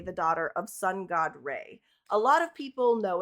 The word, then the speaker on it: Ra: And for me, I was raised saying raw, but apparently that's like a Americanized way of saying it.